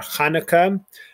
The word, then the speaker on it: Chanukah: people do the ch but it's it's ch like bach yohan sebastian bach or chanukah the hebrew name which in english sounds like hannah is hana and so it's just a guttural from the back i also i've i've